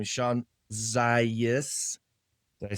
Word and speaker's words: Zajas: His name is Shawn Zajas. Did I say it right? Yes, you did. Zaya. Adrian Lefler. Okay, well, it's Zajas, and it could be pronounced Zayas, Zajas.